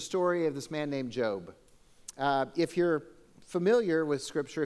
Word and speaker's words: Job: Bible there's a story of this man named Jobe if you're familiar with scripture if you grew up in church you probably know there's a little bit about the story of Jobe if you're new to this Christian thing then